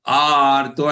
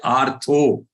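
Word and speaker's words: आर्तो: Arto, and don't say artho. Okay, we are used to the English word artho. So it is artho and not artho.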